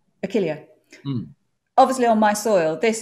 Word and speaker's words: Achillea: Achillea? Achilla? Achillea. Achillea.